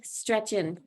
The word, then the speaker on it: Stretching: is stretching and the way to pronounce my name is to think of the first thing you do in the morning and that's other than Yawn is probably gonna be stretch yes and that is how you say my name stretching stretchin because